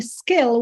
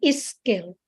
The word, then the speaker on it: skill: And instead of just saying skill, 1 syllable, we say is skill, which is really not, because it becomes another word, another meaning, because it says is.